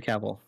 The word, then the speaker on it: Cavill: last name i always say it right henry cavill cavill yeah great it was none of the